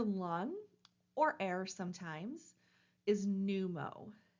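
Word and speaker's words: pneumo: or air sometimes is numo p Neu M with the backslash and the O so when we have a p and an N together generally we just start with the N sound so numo is how we're going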